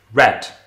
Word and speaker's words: read: So in the present tense, I would read it as read. And that's the the spelling. But if I'm in the past tense, I still write r e i d, but I pronounce it red.